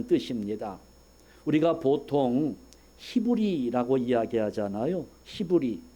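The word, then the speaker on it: עברי: 우리가 보통 히브리 이야기하잖아요 히브리 이게 오리지널 발음을 하면 이브리 합니다 이브리 이게 에과 같은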